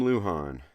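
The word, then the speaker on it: Lujan: Jim Luhan. Luhan is spelled L U J an Jim Luhan.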